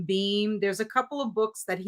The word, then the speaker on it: Beahm: And so this is George, I guess he pronounces his name Beam.